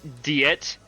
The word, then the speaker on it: Diet: I think that's the first time that I've heard the proper pronunciation of Diet, because in Persona 5 they always called it Diet.